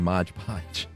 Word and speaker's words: Mod Podge: When we got written in about the hodgepodge, I kept saying Mod Podge.